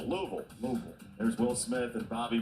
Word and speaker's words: Louisville: A lot of Kentucky folk out there, people call it Louisville, they're cringing. 85 likes. It's got to be like half a syllable. Louisville.